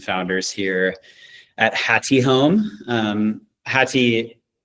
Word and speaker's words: Häti: Häti, not to be confused with Haiti, Häti means heart in Indonesian.